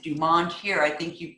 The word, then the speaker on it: Dumont: And we pronounce it Dumont here. I think you pronounce it Dumont.